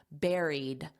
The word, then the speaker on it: buried: It's the same as a strawberry berry. Berry airy. Buried.